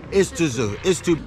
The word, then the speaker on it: Iztuzu: Iztuzu.